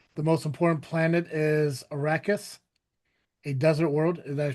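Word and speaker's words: Arrakis: The most important planet is Arachus, a desert world. Did I pronounce that right?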